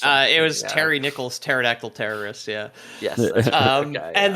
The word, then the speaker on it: pterodactyl: dactyls or something uh it was Terry Nichols pterodactyl terrorists yeah yes um and then the Godzilla